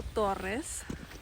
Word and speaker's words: Torres: No suena igual cuando lo pronuncias en alemán. Por la primera, como decir, la primera letra, la T, tiene que ser una T, o sea, son consonantes, en alemán se dice, son consonantes plosivas, que es como, viene